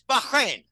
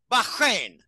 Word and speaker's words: Bahrain: Bahrain and you know we don't pronounce it right it's Bahrain Bahrain B Bahrain okay he said Bahrain is